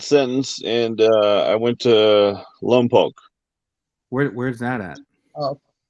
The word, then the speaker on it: Lompoc: I got a 30-month sentence, and I went to Lompoc. Where's that at? Oh. It's down south by Santa Barbara, and you know, look, everybody says Lompoc, right?